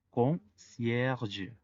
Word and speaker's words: concierge: La primer E, aunque no está acentuada, está antes de la R y la R es la última letra de la sílaba. Por lo tanto, esto hace que la E tenga sonido.